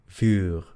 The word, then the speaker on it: vuur: La U larga es el sonido U. Entonces, por ejemplo, tenemos la palabra mur, o fur, ¿ok? Mur, Vuur.